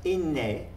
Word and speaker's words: ynne: Here we have the word it pronounced in Middle Cornish as inne, in them. And this became inna, the newer spelling.